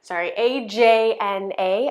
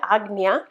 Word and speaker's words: Ajna: It's spelled A-J-N-A, Ajna.